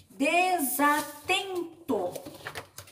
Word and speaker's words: desatento: Desatento. Desatento. Última, penúltima. Penúltima sílaba dela é mais forte.